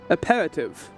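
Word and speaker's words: apéritif: And how do you pronounce it? Aperitif.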